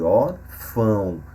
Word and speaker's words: órfão: órfão e órgão então nessas duas últimas palavras o acento agudo na primeira sílaba ora indica que a sílaba mais forte e também a pronúncia aberta da letra o na outra sílaba o tio indica que o som é nasal no caso de órfão e órgão ok então o tio